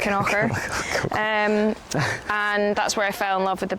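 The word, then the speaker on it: Kilconquhar: Looks like Kilconquer, but it's pronounced Knocker.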